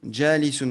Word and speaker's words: جالس: Juste ici, quand tu as lu Jalisun, on dit Jalisun. Essayez souvent de faire les bons temps de prononciation. C'est ce qu'on appelle les allongements.